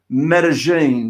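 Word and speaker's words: Medellín: You know, you've been out there for so long now, I think I can actually pronounce Medellin.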